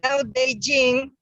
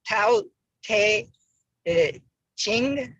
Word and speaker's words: Tao Te Ching: Dao De Jing, well, that's the way the Chinese pronounce it, but it's written like Tao Te Ching or King, or depending on how it was spelled.